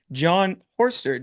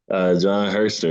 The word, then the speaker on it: Herster: You played under, I want to say the head coach at the time would have been John Horster. Did I pronounce that correctly? John Herster, yeah, he's actually Trying to- still a head man to this day.